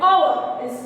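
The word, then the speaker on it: hour: O is vowel, and the pronunciation also which comes is like our.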